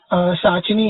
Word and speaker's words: पिशाचिनी: वो प्रोमो में बोलती है कि मेरा नाम शाचिनी है, पी तो ऐसा साइलेंट है।